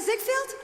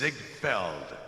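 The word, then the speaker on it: Ziegfeld: Zigfield, is that you, Mr. Zigfield? It's Ziggfeld. No, I right.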